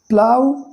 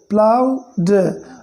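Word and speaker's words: ploughed: देखिए इस प्लाउड में GH साइलेंट है। प्लाउड, प्लाउड, आप बस इतना पढ़ोगे।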